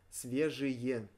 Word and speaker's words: свежие: Свежие. Свежие газеты. Свежие. Свежие газеты. And again, the pronunciation, instead of e, we pronounced y.